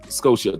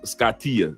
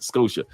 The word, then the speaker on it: Scotia: at all Lee Perry it is pronounced Scotia thank you very much not scatia Scotia because I don't want